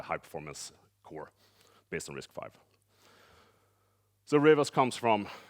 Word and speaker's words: RISC-V: thing now so uh the most important part is that it's pronounced risk five so it's not risk V or anything so it's uh uh